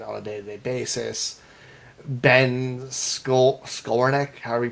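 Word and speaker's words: Skowronek: Ben Skolnick, however you pronounce his last name. Huh? It rhymes with ironic. Skolnick.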